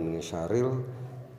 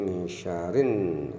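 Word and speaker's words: مِن شَرِّ: Ini ada tasjid, kemudian min syarrin, ini ada alif lam syamsiyah, kemudian ada juga tasjid sehingga dibacanya bukan min syaril tapi min syarin, min syarin Jadi alif lamnya tidak nampak, sehingga yang munculnya adalah nun, sehingga syarin, syarin bukan syaril tapi syarin.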